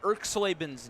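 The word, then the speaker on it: Erxleben: How about Erkslaben's name, Joko?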